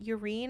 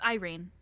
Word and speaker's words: Irene: we're saying it wrong urine is that it it's Irene it's Irene it is Irene yeah Irene ours okay Irene Towers I've been saying urine the whole time Ur I've been reading